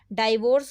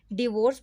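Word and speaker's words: divorce: डाइवोर्स गलत pronunciation है, इसको हमें डिवोर्स बोला जाता है, डाइवोर्स नहीं बोलना।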